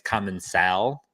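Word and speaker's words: Commencal: I asked like how do you actually pronounce this and they said like it's common cell which they like it's an accent I don't have it so like I'm never gonna be able to say it right common cell I say common sell I've always said common Soul okay TR you love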